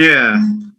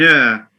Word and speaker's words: heir: The H is silent, like we say an honest man, an honest, an heir, an heir. He is an heir to the throne.